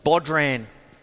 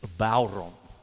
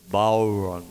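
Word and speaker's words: bodhrán: bon time you see when you see it it it's spelled it you feel like you got to say bodran I got told off once early on in the piece Chris it's bon or bon like that but what it is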